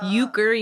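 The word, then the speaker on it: euchre: Uh Uker.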